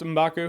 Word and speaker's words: M'Baku: I believe it is pronounced M'Baku.